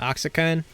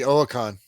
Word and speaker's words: Oaxacan: It'd be Oaxacan. Oaxacan? Is that how you say it? Yeah. Yeah, the X is silence.